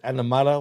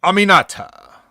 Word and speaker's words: Aminata: And how do you pronounce it? Animata, whatever you're talking about? Aminata. Aminata, that's it.